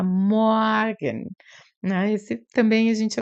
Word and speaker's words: Morgen: A pronúncia desse R é bem diferente. Parece um A meio aberto, né? Um R misturado com A. Morgen.